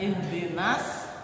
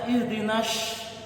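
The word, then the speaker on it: اهدنا الصراط: Kalau kita bacanya ihdinas pakai sin kecil, itu berasal dari kata surtiun, artinya kepiting. Tapi kalau kita baca ihdinas pakai sin gede, itu berasal dari kata syaratun, artinya polisi.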